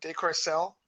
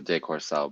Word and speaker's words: deCourcelle: it going so how do I pronounce your last name Decor cell Decor cell yeah the French French pronounce the de Corso but we over here in America I mean I had French to seventh eighth and 19th known as Decor cell right um so so